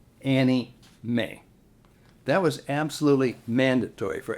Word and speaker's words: anime: It is also known as anime videos, parentheses, pronounced, quote, Annie May.